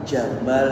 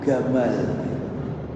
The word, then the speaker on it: Gamal: Gamel Abdul Nasr itu kalau orang Arab Jamal itu jin-nya jadi G Pak. Jadi gamal jinnya jadi G bacanya. Jadi Jamal Abdul Nasr kalau orang Mesir dia bilang Jamal Abdul Nasr Gamal Abdul Nasr.